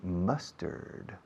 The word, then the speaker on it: mustard: Is there any mustard? Mustard. How do you say mustard in Spanish? Mostaza. Ah, mustard. Mustard. Must, como I must, yo debo.